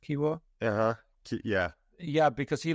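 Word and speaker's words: Kiwior: Is that how it's pronounced, Kiwor?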